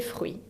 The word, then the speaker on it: fruits: No se pronuncia ni la S final y ni la T. Les fruits.